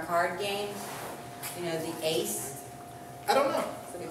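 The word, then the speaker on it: εἷς: a sound right so the epsilon iota diphthong works the same way so it would be pronounced ace ace so ace one what's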